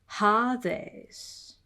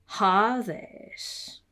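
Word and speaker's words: ᾅδης: In Lucian Koine, this has merged with just a long alpha. So it's just R in Lucian. R. So with this rough breathing here, it would be Hades. Hades.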